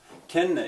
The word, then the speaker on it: kenne: Kenne ich. Kenne ich. Now, I think really in German, if you say it right, that N is not like one N. There's a reason that it's there twice. Kenne ich.